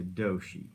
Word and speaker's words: Doshi: It's pronounced like Yoshi, but with a D, so Doshi.